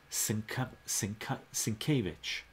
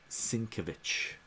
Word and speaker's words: Sienkiewicz: Sin K Vich. Bill Sienkiewicz. Is that how you pronounce it?